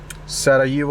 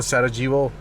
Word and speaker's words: Sarajevo: So this is my second day in Bosnia, and I'm heading towards the capital of this country, Sarajevo, or Sarajevo, as you may pronounce it.